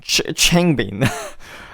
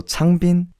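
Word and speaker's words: 창빈: Just make sure your lips are still Changbin. Do you see the difference? Don't make it Changbin. Keep the lips sealed, and then the pronunciation would be more correct. So Changbin is the right way to pronounce his name.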